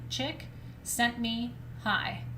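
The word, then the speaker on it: Csikszentmihalyi: was like i need to know how to pronounce his name because i was introducing him and they they kept saying chick sent me hi and i'm like okay chick sent me hi anyway that's me holly and he's an incredible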